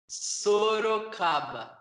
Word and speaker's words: Sorocaba: Sorocaba. Sorocaba.